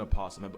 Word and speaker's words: opossum: That is an opossum. And before y'all get on me, some people say the O is silent, others don't.